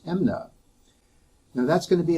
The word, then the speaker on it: MMNA: maintenance needs allowance and we used the acronym mmna which we in california pronounce as amna now that's going to